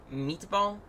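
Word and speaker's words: MTBAL: how to pronounce that how do you pronounce it meatball meatball meatball okay even though that's not how you spell meatball uh then as filed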